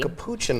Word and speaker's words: capuchin: how do you say this a capuchin monkey capuchin monkey thank you i know this because i